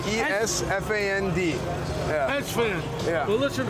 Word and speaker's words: Esfand: How do I pronounce that? Esfand. E-S-F-A-N-D.